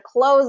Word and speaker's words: close: close the suitcase um then make sure it has that voiced z sound at the end okay how about these